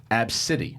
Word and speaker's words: Abcde: is it's pretty it's spelled ABCDE but it's pronounced AB City of course it is okay so AB City